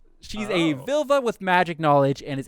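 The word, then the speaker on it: Völva: how to pronounce that because it's v o with a slash through it isn't that like a u sound i think it's an i that's an i i think i googled it and they say you pronounce it like i and sir is what they say so i'm gonna go vilva she's a vilva with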